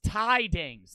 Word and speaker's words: T-Dings: Says it's pronounced Tidings.